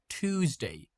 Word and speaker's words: Tuesday: Um, in American English we pronounce it like Tuesday. TT t Tuesday. Tuesday. But in British English, they pronounce it like Tuesday. Ch. A small difference, but but we do have it.